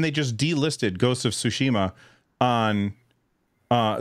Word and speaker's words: Tsushima: at me um but how do you say it Russ you know how to speak languages I think it's tsushima sushima okay I'll I'll get